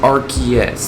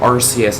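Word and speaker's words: Arceus: Like seriously, it's pronounced Archus, not Arcus, everybody.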